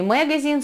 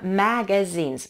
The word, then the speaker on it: magazines: Maybe in magazines, magazines, это не magazines, а magazines, ma, там a, maybe in magazines.